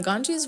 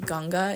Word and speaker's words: Ganga: And the Ganges River, which is pronounced Ganga in India, flows across Northeastern India and is considered very sacred in both yoga and Hinduism.